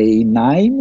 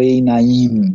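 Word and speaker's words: עיניים: Pergunta simples aqui, Suzy, alguém fala se no dual a gente sempre pronuncia a penúltima, a sílaba mais forte, né? Quer dizer, é Einaim ou Einaim, né? Então, Naim, né? Einaim. Então é sempre a paroxítona aí, não é, né, acentuada a última.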